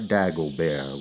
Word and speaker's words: Dagobert: It was Hippolyte Dagobert with a silent T at the end, as he was quick to point out.